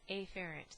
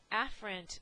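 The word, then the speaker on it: afferent: can be sensory or afer sorry aparent that's the improper way to pronunciate it um the afren they are always bringing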